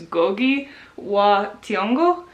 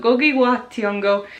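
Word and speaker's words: Ngũgĩ wa Thiong'o: his own name, it's Ngugi wa Thiong'o. So hopefully that's right. I'm not entirely sure if you're supposed to say the N or not, but I'm gonna go with how he said it.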